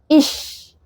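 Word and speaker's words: ich: لشت لشت زي كلمه ايه برضو اش كلمه اش يعني انا اش وكلمه لشت لشت يعني نور او اضاءه تمام فماينفعش ان انا اقول اش ده كده غلط تماما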